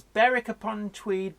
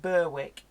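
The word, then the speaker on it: Berwick-upon-Tweed: Paul and understand is barrack upon tweed basically about yes it's not Berwick yeah like an ik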